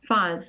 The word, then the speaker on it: Fahs: Am I pronouncing your last name right? Fahs? Fahs. Oh, yes. Fahs.